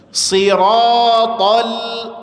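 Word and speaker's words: صراط: Siratal sirat. Sir itu semuanya tebal. Tib. Maka dalam posisi jangan senyum ngambek saja tapi ingat jangan sampai memonyongkan kedua bibir.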